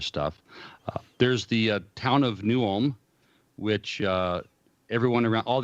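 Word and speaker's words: New Ulm: there's the town of newham which uh everyone around all the old-timers they pronounce it new alum even though it's spelled ulm so i don't i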